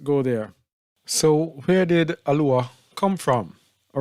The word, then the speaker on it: Aluah: So it's not Eloah. It's A, Ayin here. Luah. Aluah. Aluah.